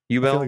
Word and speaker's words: Yubel: UB oh yeah you is it Yubel Yubel that's how they pronounce it in the sub at least yeah um